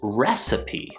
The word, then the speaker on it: recipe: This word is pronounced recipe, recipe. So we have 3 syllables, recipe. We start with the R sound, R, then we go into the short E, re.